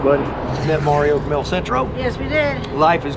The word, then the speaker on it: El Centro: Am I saying it right? Is it El Centro? El Centro, yeah. El Centro, okay.